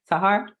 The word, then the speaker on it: Sahar: Sahar? Yeah, it's Sahar, runs the car.